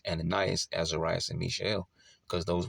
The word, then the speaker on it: Ananias: Ananias.